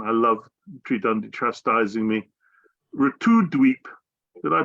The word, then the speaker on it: Navadwip: Navadwip. Did I pronounce that right, Marge?